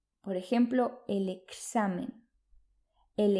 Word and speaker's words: examen: en general sino que el sonido de la letra x equivale a dos fonemas el fonema k y el fonemas cuando aparece una equis en español se pronuncia por ejemplo el examen el examen el extranjero el extranjero